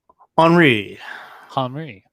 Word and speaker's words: Henri: It's not what I think. Henri. It's French. Henri. It's French. It's French. All right. I just wanted to say Henry with an I.